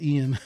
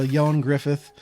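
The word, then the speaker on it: Ioan Gruffudd: sorry I can't pronounce his name is not pronounced the way it looks no I thought it was Ian The Way It Was Written or yeah so yon Griffith um who was fantast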